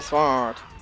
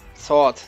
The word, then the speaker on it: Sword: Disaster Sword. Sword, nicht Sword. Das W spricht man nicht aus.